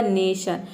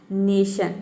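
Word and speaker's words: nation: तरह से समझे कि किसी भी वर्ड के अंत में आप देखेंगे टी आई ओ एन तो इन चारों लेटर को मिलाकर हम प्रोनाउंस करते हैं शन इस तरह से शन नेशन नेशन मतलब होता है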